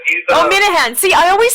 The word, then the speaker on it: Minehan: Minahan. He's, Minahan. See, I always say his name wrong.